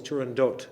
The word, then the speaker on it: Turandot: It is always Turandot. The T is pronounced and there's just an O, because Puccini wrote it that way.